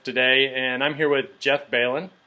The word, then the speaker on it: Belin: Hey everyone, this is Coach today, and I'm here with Jeff Balin. Pronounce that right?